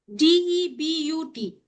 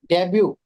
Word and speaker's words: debut: DEBUT. Debut. Yes, T is silent.